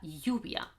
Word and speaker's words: lluvia: year okay a year Double L it sounds pretty much like a y in Spanish so if you've come